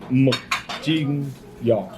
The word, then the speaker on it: mực chiên giò: is mực chiên giò.